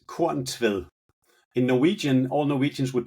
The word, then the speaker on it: Korntvedt: Well, in Danish, it's Korn Tved. In Norwegian, all Norwegians would put an extra T at the end for some odd reason, so that would be Korn Tved.